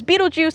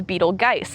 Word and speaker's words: Betelgeuse: Beetlejuice, Beetlejuice, well, while some people pronounce the star name as Beetlejuice, it is more commonly pronounced as Betelgeuse.